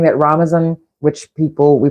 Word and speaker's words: Ramadan: And I was saying that Ramadan, which we pronounce as Ramadan, and I'd forgotten that, but I saw a post that reminded me it's not Ramadan.